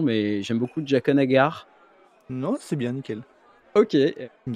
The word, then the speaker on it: Jaqen H'ghar: Alors, tu me reprendras sur la prononciation, mais j'aime beaucoup Jaqen H'ghar.